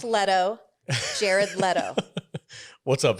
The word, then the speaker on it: Leto: you know you guys are hilarious um it's pronounced letto jared leto what's up v what annoyed you